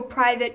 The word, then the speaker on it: Privet: at number four like depending how you say it privet or private driver um with his